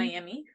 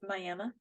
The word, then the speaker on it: Miami: Looks like Mm-hmm. Miami for those who are not from here, but it's pronounced Miami.